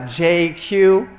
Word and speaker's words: JQ: Uh, I'm I'm probably the only person you'll ever meet who can pronounce his full name in just two letters. Uh, JQ. Uh, kind of like if Jay Z and GQ had a baby and it was Asian, that would be me.